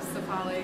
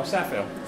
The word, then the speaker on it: Safale: We're using a dry ale yeast, the Cephale US05. Am I pronouncing that right? Cephale? Yeah, I think so. Cephale. No, Safale.